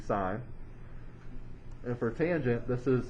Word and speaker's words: sin: cos for cosine for sine that's abbreviated as sin that is not sin that's supposed to be sine and for tangent this